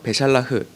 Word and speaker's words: בְּשַׁלַּח: 그래서 베샬라흐, 샬라흐가 보내다, 샬라흐가 보세다인데요. 이 흐가 샬라흐입니다. 그러니까 흐는 흐인데 약간 크 같죠?